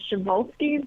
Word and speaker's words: Przewalski: you have the really tough horse name to pronounce, which is the Przewalski, but you would have never thought that's how you pronounce it.